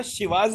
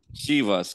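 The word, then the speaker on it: Chivas: वो स्कॉटिश वि हा शिवाज की स्पेलिंग क्या है सी एच आईवी ए एस शी वाज शी वास करेक्ट तो जो शिवा का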